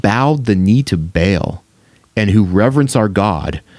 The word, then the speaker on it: Baal: No, but the implication is here that it is written Adventist ministry worships Baal, or Baal is how it's pronounced, but Baal.